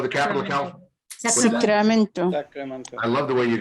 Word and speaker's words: Sacramento: No, Sacramento is correct, but I love the accent you put on it, Sacramento. Sacramento. Yes. And when the Spanish were here, it was Sacramento. They make the R trill.